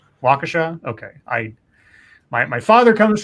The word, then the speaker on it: Waukesha: verbal warning by a walkie Sheriff for not following the Move Over Law I think it's pronounced 'swaj uh Waukesha ok I my father